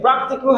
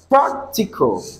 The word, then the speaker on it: practical: Practical has three syllables, so you stress the first one, which is the third syllable from the end, right?